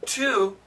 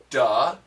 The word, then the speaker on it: to: both are common actually the word to has seven different sounds we can say da T du t d t and to they're all possible okay there's a many